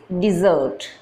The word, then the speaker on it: dessert: the spelling is de double s ERT the pronunciation is desert the e sound desert desert is a sweet